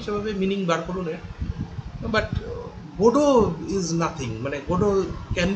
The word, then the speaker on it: Godot: সেরকম নয় তার ফলে সেই মিনিংটাও আসছে না গড অফ ট্রি তো হচ্ছেই না উচ্চারণটা হয়ে যাচ্ছে গোডো এরকম ধরনের তাহলে এরকম